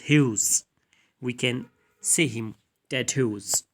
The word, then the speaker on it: Hughes: ted hawks actually it we can read it hogs but the actual pronunciation is hughes we can see him